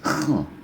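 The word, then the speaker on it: خ: Yang ini kho, ya, kho, terdengar seperti di pangkal tenggorokan ya, kho. Yang ini gho. Nah, ini di langit tenggorokan, gho.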